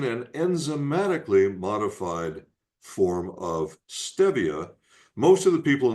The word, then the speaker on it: stevia: Well, my first name is Steve. It's spelled st v e. Steve. And if it was stevia, it would be st a, which it isn't. It's correctly pronounced stevia.